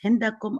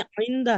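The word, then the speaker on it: عندها: आइंदा हा, ये हिंदा नहीं है, आइंदा है, हिंदा नहीं है। इंदा वो थोड़ा सा उनको प्रोनाउंस करने में लगा, आइन है, हा नहीं है।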